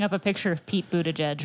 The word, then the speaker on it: Buttigieg: Holding up a picture of Pete Buttigieg right yeah. now. I think it's yeah. pronounced butt gig. It's not. It's Buttigieg.